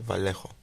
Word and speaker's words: Vallejo: for me is Vallejo yeah Vallejo that's the proper way to pronounce it I have I have